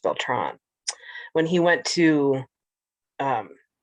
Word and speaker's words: Beltran: is that when robert beltran went to oh actually i think his last name is pronounced beltron when he went to